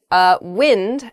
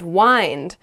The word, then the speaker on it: wind: those are pretty good next is wind as in the air blowing blowing air and wind as in like to wrap something around something else wind you might say the